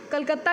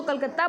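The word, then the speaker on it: Kolkata: the farther than Calcutta, कलकत्ता की spelling पहले ऐसी थी, इसको कलकत्ता बोलते थे बट हम क्या बोलते हैं इसको कोलकाता, और स्पेलिंग ये है।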